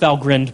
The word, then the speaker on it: Valgrind: Valgrind. That's pronounced Valgrind, by the way. I've been pronouncing it wrong for many years.